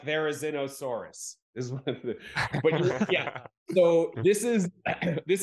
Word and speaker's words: Therizinosaurus: in Jurassic world Dominion the latest one uh terzynosaurus if I'm pronouncing it right yeah but you said I can say all right one right there there is no Soros like Therizinosaurus yeah so this is this animal had the